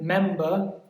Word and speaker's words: member: For example, member, it's on the first syllable. Member, not member.